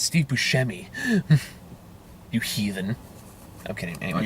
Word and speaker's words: Buscemi: It's Steve Buscemi.